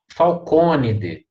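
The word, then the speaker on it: Falconidae: a pronúncia aí então a gente sempre pronuncia candide falconidea tá depois eu vou explicar por que que elas são proparoxítonas mas fica canivete falconidea último aí é som de e a joia e essa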